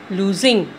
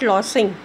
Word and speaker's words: losing: Lose, base form is lose, lose, loses, lost, losing. What is pronounced? Losing, not lossing.